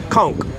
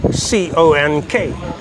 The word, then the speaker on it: conch: my friend now that's conch c-o-n-c-h but pronounce c-o-n-k it is not pronounced conch as it's spelled it is pronounced conk c-o-n-k all right